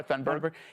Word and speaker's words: Thunberg: Doesn't Greta Thunberg sound... Am I pronouncing it right? Yeah, you are Thunberg.